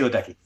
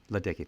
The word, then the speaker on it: Ledecky: Is it Ledecky? You're well done. Katie Ledecky. Ledecky, thank you.